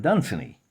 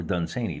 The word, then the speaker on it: Dunsany: of Elfland's Daughters by Lord Dunsany, or Dunsany, depending on how you want to pronounce that.